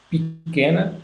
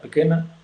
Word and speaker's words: pequena: Então, o brasileiro é talvez a variedade que mais sonora em todas as sílabas da palavra, né? Portanto, eles dizem pequena, né?